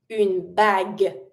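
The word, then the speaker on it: bague: Of course, a dress, a suit, a costume, a ring, bag. And really do emphasize the G sound, but don't pronounce the final e.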